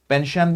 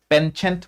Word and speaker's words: penchant: যদি কও ঠিক আছে পেনশন বুলিও কয় টি টো ইমান এটা উচ্চাৰণ হয় ইটস অলমোস্ট সাইলেন্ট হেতু প্ৰিটি মাচ ঠিক আছে পেনচেন্ট বুলি নকয় penchant বুলি কয় so penchant he is